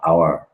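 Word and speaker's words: hour: আপনি যদি বর্ণ দেখে বসাইতেন তাহলে তো এখানে এ হওয়ার কথা, কিন্তু এখানে উচ্চারণ তো হাওয়ার না, এটার উচ্চারণ তো আওয়ার, এটার উচ্চারণ আওয়ার।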